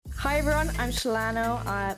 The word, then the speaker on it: SheilannO: It's pronounced SheilannO, which is actually my real name.